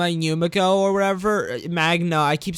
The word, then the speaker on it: Magna: The moment between Magma and Yumiko or whatever, Magna, I keep saying her name wrong, I think, actually was the first moment between them that I actually really liked this season.